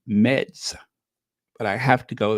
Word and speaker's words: Metz: It's spelled Metz, Meds, but I have to go there.